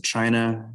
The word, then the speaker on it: Qing: the past couple weeks so remember that ancient china was ruled by dynasties or ruling families starting